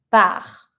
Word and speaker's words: pars: Je pars. Don't pronounce the S.